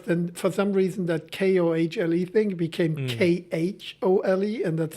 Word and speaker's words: Kohle: Is it Kohl? Yeah, Kohl. no, it depends on, my surname gave me so much fun throughout my years working abroad. In the Netherlands, they say Kohle, Ah, okay. Meneer Kohle. Kohle. In Germany, it's Herr Kohle.